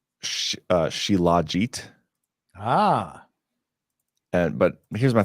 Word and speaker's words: shilajit: so the chat is telling me it's sh shilajit ah and but here's my thing if you're